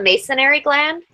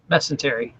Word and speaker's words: mesentery: So, but you know, it made me think of the masonry gland. That discovery, am I saying it right? The masonry gland? Mesentery. Mesentery.